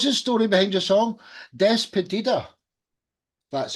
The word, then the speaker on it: Despedida: Despedida.